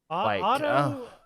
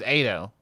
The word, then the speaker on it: Ado: Like Otto, is that how you say your name? Ado? How do you say your name? Uda? Oh, the artist is Ado.